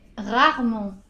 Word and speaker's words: rarement: - Un dernier : rarement . - Rarement, d'accord le E on ne l'entend presque pas, ça fait RAR-MENT, .